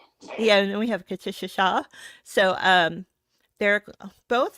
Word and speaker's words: Katisha: It's Katisha, but that's okay.